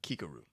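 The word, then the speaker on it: Kikoru: And by the way, I made sure to get her name right this time. I know I said it wrong in the past, but Kikaru is her name.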